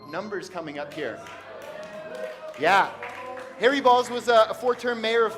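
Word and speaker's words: Harry Baals: At one point, a reporter tried to remix his name and called him like Harry Bs or Bales. And Harry Balls called him and said, "My name is pronounced Harry Balls."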